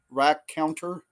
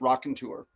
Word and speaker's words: raconteur: You could see maybe where I got Raconteur instead, but it's Raconteur.